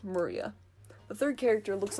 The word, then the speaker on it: Maria: remember her name is written of course is pronounced maria the third character looks like a cross which